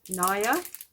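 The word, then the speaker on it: Niré: It's a 115 and it's by Naya. That's how you pronounce it, N-I-R-E.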